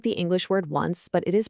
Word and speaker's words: once: Yep, it looks exactly like the English word once, but it is pronounced once. Just make sure you really emphasize that C ending, once.